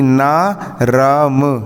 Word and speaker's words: नर्म: अगर ऊपर रा की रेफ लगी है, यदि ऊपर रा की रेफ लगी है, इसका मतलब ये होता है कि रा का उच्चारण पहले होगा, मतलब राम, इसको पढ़ेंगे राम। जैसे कि ना राम नर्म, ना राम नर्म,